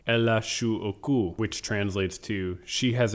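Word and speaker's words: L.H.O.O.Q.: is the title because when you say it in french you get el ash which sounds like ella shu oku which translates to she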